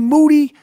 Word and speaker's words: Moody: I'm here with Moody last name rhymes with Duty yep always ready